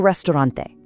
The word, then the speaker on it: restaurante: Listen to that crisp E at the end and roll that R, El Restaurante.